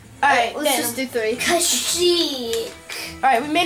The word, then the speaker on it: Kashyyyk: Yeah, that is Kashyyyk. Oh. That took me like a year to figure out how to pronounce it correctly.